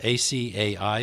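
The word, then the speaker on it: açaí: example well I'm not even sure how to pronounce it myself a CAI berries yes that comes from the problem with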